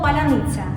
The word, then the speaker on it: паляниця: це приходь Ми тебе навчимо кожен українець може вимовити слово паляниця це як коднації А Наші учні які навчаються